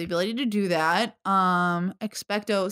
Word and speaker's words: Expecto: to do that um expecto sounds like expect uh you're not wrong